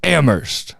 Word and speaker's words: Amherst: He's like, said- it's Amherst. I came I'm up like, out of Amherst where the H is silent.